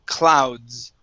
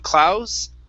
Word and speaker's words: clouds: it's with the word clouds Okay So when you're pronouncing that the that D sound there okay your your D kind sort of got lost into into the S saying clouds Okay So you want